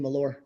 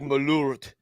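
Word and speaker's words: Malört: Everyone remembers that I don't pronounce the T in Malor. Malor, Malor, LOL. Yeah, it should be like Malurt. Yeah, because it's got that double O, and I think it makes more of a Yeah.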